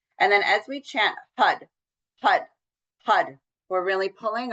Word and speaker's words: Har: And now we're going to be working with the mantra Hud. Hud. It's h a r but pronounced like h u d.